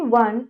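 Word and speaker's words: one: द ओ इन वन एंड यू in uniform and union are pronounced as वॉन एंड यो. इनको हम वॉन और यो करके pronounce करेंगे.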